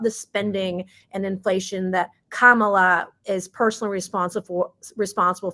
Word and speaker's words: Kamala: didn't say it wrong I now know it's Kamala some people want to say kamila what however you want